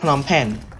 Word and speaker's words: Phnom Penh: It's not Phnom Penh. The American, they pronounce it as Phnom Penh, but it's actually,